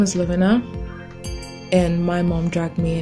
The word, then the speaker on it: Lovena: Her name is Lovena.